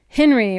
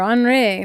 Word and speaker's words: Henri: We're getting, I believe, the end of Henry or Henri, depending on how you want to pronounce that hurricane.